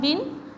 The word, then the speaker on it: win: जैसे इसको थोड़ा सा हम प्रीवियसली देख लेते हैं कि जैसे हमने पढ़ा था विन, WIN, विन short vowel है, लेकिन जब इसके